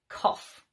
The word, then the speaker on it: cough: The first one is off, like in cough, which of course is to, to push air out of your lungs.